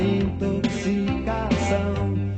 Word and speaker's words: intoxicação: aí uma palavra que muita gente não sabe pronunciar não, muita gente pronuncia mal. A palavra é intoxicação, intoxicar, intoxicado e por aí vai. É assim que se diz isso, não é intoxicar, não é intoxicado, não é intoxicação, nada disso.